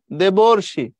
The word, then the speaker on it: দেবর্ষি: তো তুমি বলছো সীতার্ত এই দেবর্ষি আর সীতার্থ দুটোর উচ্চারণ আলাদা কিনা খেয়াল করে দেখো দেবর্ষি দেবর্ষি মাঝখানে অর সীতার মাঝখানে আর ক্ষুধার্ত আর তৃষ্ণার্ত ভয়ার্থ ক্ষুধার্ত মাঝখানে আর বাট ওই পাশে যখন তুমি যাবা মহর্ষি মহর্ষি মাঝখানে অর তাইলে এগুলোকে ভাঙ্গো অধম